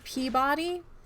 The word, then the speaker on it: Peabody: is his name is Mr Peabody p-e-a like the vegetable b-o-d-y however his nickname has